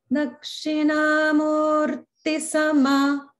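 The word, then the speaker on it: दक्षिणामूर्ति: One thing to watch out is in Murti, the Ti is Hrasva, so it doesn't get elongated. Okay. So it's like Dakshinamurti Sama, Dakshinamurti Sama.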